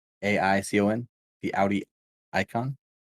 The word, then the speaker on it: AICON: Icon, but it's with an A. AICON.